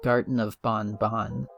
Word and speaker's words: Garten of Banban: pronounce the name correctly the devs have apparently stated that the game is pronounced Garden of Bonbon which only makes me